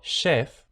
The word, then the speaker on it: chef: Por eso, chief con ch, pero chef con sh.